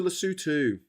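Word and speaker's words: Lesotho: Uh let's go to Lutu. It's spelled Lasso, but it's pronounced Lutu.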